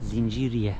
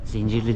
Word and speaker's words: Zinciriye: Bu da Zinciriye Medresesi. Zincirli değilmiş, yanlış telaffuz etmişiz biz.